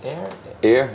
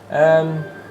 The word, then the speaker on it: Ayr: Well, I was wondering, you are from, I don't know how to pronounce it exactly. Ayr, yeah. Ayr.